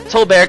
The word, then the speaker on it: Toadbert: Toadbear comes here. I'm just going to call him Toadbear. It rhymes with Colbert.